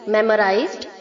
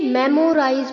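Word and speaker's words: memorize: okay mains mending मेमोराइज मेमोराइज्ड मेमोराइज्ड बहुत सारे बच्चे इसे मेमोराइज बोलते हैं गलत प्रोनंसिएशन है बच्चों मेमोराइज नहीं होता है मेमोराइज okay मेमोराइज मेमोराइज्ड मेमोराइज्ड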